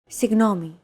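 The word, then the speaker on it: συγγνώμη: romanized like this signomi this character isn't pronounced using an English G sound at all it's like a very soft continuous and loosely held G almost as if you're gargling but don't make it sound too throaty there's no such sound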